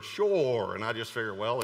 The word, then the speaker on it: Shur: word, we would say Shur, but it's actually pronounced Shur. Okay, never mind. Actually, in the Hebrew, it is pronounced like a two-syllable word, Shur.